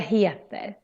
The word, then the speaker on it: heter: And then heter, here we need to kind of pull out the E when we say it. Heter.